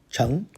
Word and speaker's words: 成: Let's show that character Cheng, sometimes pronounced Cheng. One more time, all by its lonesome, 14 strokes. If you became king, some people would say you succeeded. So character number 2. Second tone, Cheng.